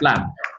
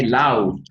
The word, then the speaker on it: laugh: Laugh. But most people, when they pronounce this verb, this word, they always say loud or thou.